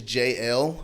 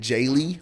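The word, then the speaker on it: Jaelle: used to that because my name is JL but it's spelled like j a e l l e okay so I get Jay a lot of times I get J they're like you're name's Jail jail like you've been to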